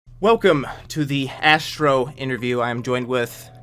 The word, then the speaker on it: Azztrro: Oh, by the way, you could pronounce it Azztrro, as Azztrro, so Azztrro?